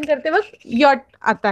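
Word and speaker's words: Jot: Okay, day, ए, एफ, गे, हा, ई, yacht. अब जैसे जे, जे हम लोग इंग्लिश में प्रोनाउंस करते हैं, लेकिन जर्मन में हम लोग उसका प्रोनाउंसिएशन जे नहीं करते, यॉट करते हैं।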